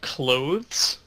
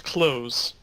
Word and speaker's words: clothes: couple months ago that the word clothes I just subconsciously pronounce clothes like closing the door close oh yeah I think